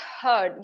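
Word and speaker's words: herd: First word is हर्ड। यहां पर आर को हमने बड़ा हल्का सा प्रोनाउंस करना है।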